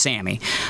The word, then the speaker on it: SAMe: yeah we'll call it sammy okay it spelled like same s-a-m-e but it's pronounced sammy um that drug is